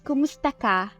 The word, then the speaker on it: kumusta: you say how are you in talog it's kumusta Kum yeah perfect and how do you say